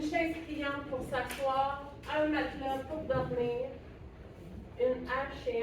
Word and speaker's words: matelas: Matelas. Matelas. Je prononce pas le E ici. Matelas.